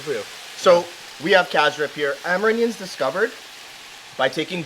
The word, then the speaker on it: cassareep: In Guyana we pronounce it Cassareep, right? Cassareep. Cassareep. Cassareep. Like it's CA, but it's a CY. It's Cassareep. Cassareep.